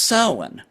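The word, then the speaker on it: Samhain: you when you deal with Irish uh Gaelic it's very rarely pronounced the way it's spelled okay so you have Sam spelled s a m h a i m but it's pronounced sin and and just the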